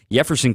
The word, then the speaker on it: Jefferson: excuse me Jefferson Caro the Jay is silent Spanish pronunciation yefferson Caro I I really encourage